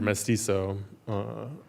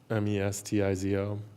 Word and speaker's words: mestizo: So the word, it's a Mexican word, mestizo, which literally means mixed, mestizo.